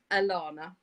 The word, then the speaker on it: Alahana: It is spelled Alahana, and she says it's the bane of her life. But we will make a concerted effort to call her Alana because that is actually how it's pronounced.